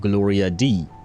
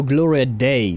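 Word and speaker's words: Gloria Dea: Uh, Gloria Metner, better known by her stage name of Gloria D. Uh, oh no. Gloria Day, that's how you pronounce it.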